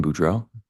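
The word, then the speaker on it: Boudreaux: morning morning can you state your name and spell it for the record my name is budro b r a n d n Buro is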